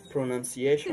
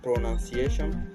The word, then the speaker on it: pronunciation: Le mot prononciation, en anglais, j'entends souvent les gens dire pronunciation, ok? Pronunciation.